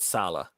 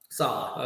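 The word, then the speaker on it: Saleh: sure okay so by the way apparently it's pronounced Robert Sala Sala okay like salad but without the do so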